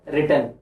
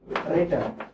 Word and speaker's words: written: Right, road, ரிட்டன் சொல்லி கொடுத்துருக்காங்களா? என்ன ரைட், ரோட், ரிட்டன் சொல்லி கொடுத்துருக்காங்க ஸ்கூல்ல. கவனிங்க, ரைட், ரோட், ரிட்டன். இத வந்து ரைட்டன் சொல்லக்கூடாது, இது என்ன சொல்லணும்? ரிட்டன் அப்படின்னு சொல்லணும். ரைட்டன் சொல்லக்கூடாது, ரிட்டன் அப்படின்னு சொல்லணும். இதே உச்சரிப்புல இன்னொரு வார்த்தையும் இருக்கு.